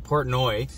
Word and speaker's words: Portnoy: our boy uh uh dave porno came portnoy i have to pronounce this guy's name properly uh came down from